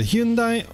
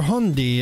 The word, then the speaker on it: Hyundai: This time it's going to be the Hyundai, or Hyundai as I've been told it's pronounced in Korean, and if not, please correct me in the comments, native speakers only.